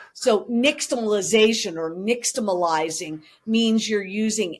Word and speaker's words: nixtamalization: I was going to ask you how to pronounce that. Right. So nixtamalization or nixtamalizing means you're using ash to boil